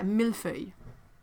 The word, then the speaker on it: millefeuille: Yeah, see, that word feuille is another one that has a bunch of letters that you don't end up pronouncing every single one of them. It's another one of those code sounds that, like Versailles and the others, when you see all these letters, it's this sound, the end.